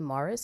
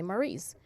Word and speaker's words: Maurice: know some people say Mars and some people say Maurice right you know so